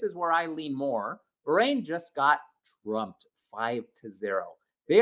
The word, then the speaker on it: Bahrain: Speaking quickly, I don't pronounce it B-rain. Okay. It's Bahrain.